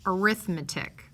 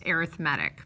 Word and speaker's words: arithmetic: arithmetic simplify slash and I should have pronounced this arithmetic but it's also pronounced arithmetic but anyway okay we